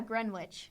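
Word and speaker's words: Greenwich: can't pronounce the name I think it's pronounced GR wi isn't it oh yeah Gren witch that that would make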